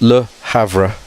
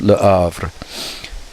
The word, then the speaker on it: Le Havre: Okay, so French often don't pronounce the H, but it's, so you would think it's Le Havre, but it's Le Havre.